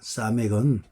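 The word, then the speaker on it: סמך: 사멕은 히브리어에서 S로 시작하는 거 S나 SH나 사멕도 S, 발음은 S가 되죠.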